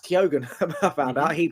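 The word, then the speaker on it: Keoghan: yeah Barry Barry it's actually it actually is kogen um I found out yeah he runs there he's he's amazing I know it's not pronounced uh kog think it is right um it is kogen he said it's a great I was doing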